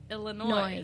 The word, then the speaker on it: Illinois: words tell me now how do you say the State Illinois St Louis illo Illinois not s Illinois so you would say